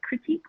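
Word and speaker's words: Kritik: You can spell it with a K and do K-R-I-T-I-K, critique, or you can spell it the way we have here.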